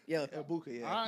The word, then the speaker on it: Egbuka: Egbuku? Yeah. Egbuka, yeah.